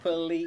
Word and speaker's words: Polizzi: I do love it when a nickname lets you know how to pronounce the name because of rhyme scheme.